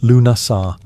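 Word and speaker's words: Lughnasadh: Lugnasad, pronounced Lunasar, the Celtic festival honoring Lug, the god of light, craftsmanship, and war.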